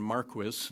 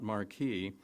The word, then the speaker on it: Marquis: that's open to doubt Don Marquis and that is the way he pronounced his name Don Marquis not Marquis Don Marquis was a